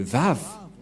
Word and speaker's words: Vav: Voilà le Vav. Vav ou W-A-W. Et comment ça s'écrit? Comment ça se prononce? C'est clairement V.